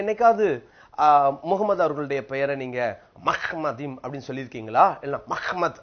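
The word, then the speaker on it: מחמדים: எப்படி என்று சொன்னால் இது மெம் மெம்க்கு கீழ பட்டாக இருக்கிறது. அடுத்தது என்ற உச்சரிப்பு தான் வரணும். இதுக்கு கீழ இது அரை மாத்திரை உண்டு. அடுத்தது திருப்பி மெம் பட்டாக இருக்கிறது. அடுத்தது இது டாலத். பாருங்க அதுக்கப்புறம் இந்த ஈ இம். அப்போ மஹ்மதீன் என்று தான் சொல்ல வேண்டும்.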